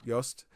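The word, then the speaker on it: Jost: J O S T uh was one of the composers. Yost uh very chill, very very fun conversation.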